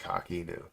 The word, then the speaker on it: Coq: that what is it's it's CQ but it's pronounced Kaku but so that's that's